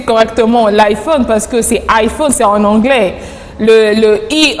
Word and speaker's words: iPhone: de l'iPhone en disant iPhone avec A, que voilà que c'était un mot anglophone et du coup le I se prononce A.